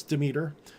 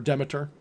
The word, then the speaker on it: Demeter: pain in the ass demeter or demeter depending on how you like to pronounce it and demeter of course